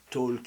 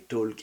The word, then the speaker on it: talk: trouver des solutions donc on voit talk et walk on veut prononcer le l I talk I walk parce que voilà en